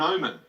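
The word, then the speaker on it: gnomon: on a sundial is called an omen that's with a silent G that's G n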